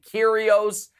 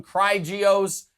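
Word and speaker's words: Kyrgios: all of it and you and kyrios and you nailed it i mean you didn't call him cry geos you nailed it you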